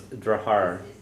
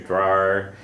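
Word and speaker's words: deartháir: Okay, so most often I think I hear the R's put next to the D's when it's pronounced, but you'll hear Drahar, you'll hear Drar, you hear Jarhar, you'll hear Drahar, all sorts of pronunciations.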